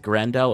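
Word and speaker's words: Grendel: grandel uh otherwise no is it grandel or with a hard G hard G we're yeah there we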